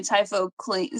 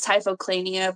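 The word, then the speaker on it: Typhochlaena: Typhoclina. See, I don't say my words out loud. So in my head, it was Typhoclania, but it's Typhoclina.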